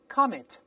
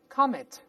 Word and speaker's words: comet: 我们大声再读一下 comet， comet，读快了之后那个 t